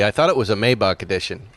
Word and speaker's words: Maybach: The Maybach is even longer. It's like 8 inches longer. Maybach. Why do they not take the A out if they want it to be pronounced Maybach? It's Deutsch.